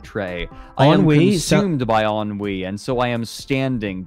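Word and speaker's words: ennui: listing and yes it to my knowledge it is pronounced on we on wee wee it it means like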